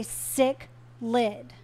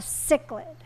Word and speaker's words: cichlid: What the F is a sick lid? That particular fish, even though now cultivated in Africa, is of Italian descent. The Italian CI has a cha sound making that particular fish a cichlid, not a sicklid.